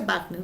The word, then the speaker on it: Wagner: Recuerda que se pronuncia Wagner, ¿no?